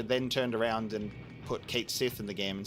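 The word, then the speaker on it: Cait Sith: And then everyone started going, oh my god, is he going to be called Ketshi? Like the Gaelic pronunciation of that actual name, finally?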